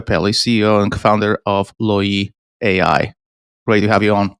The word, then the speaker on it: Loyee: Am I pronouncing it right? Loyee. Yeah, it comes from loyal customers and loyal employees.